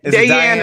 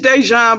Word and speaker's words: Dejan: Dayan is one way of pronouncing it. Okay. Well, how are we supposed to pronounce it? It's Dejan, but you know you can't put no accent over. You know how. Oh, gotcha. It's what? Dejan. Yeah, supposed to be an accent over the Y.